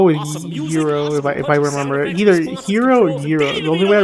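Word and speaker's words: gyro: going to get a jyro although it's technically pronounced hero although I still want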